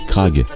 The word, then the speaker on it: Grag: la version du roman le robot grag prononcé craag en greffe issu du